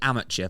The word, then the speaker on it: amateur: We are not Americans. And he sent a YouTube video with the correct pronunciation. We don't use American English. Sorry, but I won't be back until you learn to do it right. So, we say amateur for someone who's not a professional.